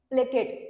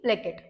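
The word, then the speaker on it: placate: परत एकदा सांगून देते याच प्रोन्सशन आहे प्लेकेट पी एल ए सी ए प्लेकेट next अटोनिम आहेत मोलिफाय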